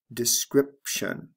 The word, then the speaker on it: description: sound changes describe description notice there are two sound changes here the long i becomes a short i describe description and the b becomes a p sound before the t describe description let's move on to another